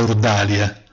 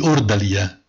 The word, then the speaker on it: ordalia: è tornata in Italia con la pronuncia francesizzata ma ormai consolidata di ordalia anche le parole girano